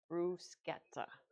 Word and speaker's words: bruschetta: And lastly, we're going to make a crockpot brusqueta chicken. I had to think about how to pronounce it because I I looked up the exact um way to pronounce it. It was brusketa.